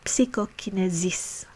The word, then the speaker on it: psychokinesis: So telekinesis is telekinesis, and psychokinesis is psychokinesis.